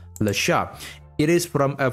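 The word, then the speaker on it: Le Chat: a product name called Lasha. It is from a French company and that's why the correct pronunciation is Lasha, not Lach.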